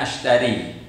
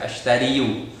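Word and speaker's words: أشتري: Oke, jadi dibaca ashtari, tidak dibaca ashtariyu, karena orang Arab itu agak berat membaca dari harakat kasroh ashtari kemudian ke ya di dhamma ashtariyu, itu agak berat bagi orang Arab, sehingga lebih mudah bagi mereka untuk melafalkan ana ashtari.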